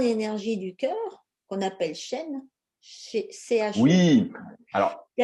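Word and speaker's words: Shen: Et je dirais que l'entité énergétique qui se trouve au niveau du cœur, on l'appelle le chêne. Et comme tu l'as dit, effectivement, ça s'écrit Non, S-H-E-N et non pas comme l'arbre euh, ouais, chêne, encore que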